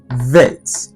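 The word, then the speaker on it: ב: It's pronounced vet. V. very very very soft.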